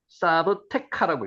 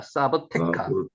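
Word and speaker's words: סַבְתְּכָא: 삽뜨가 실제로 읽으면요. 어떻게 읽었냐면은 사브카라고 읽혀집니다. 사브카 사브카 사브카 사브카 페라시아만 동호 슈바톡 지역도로 추적됩니다.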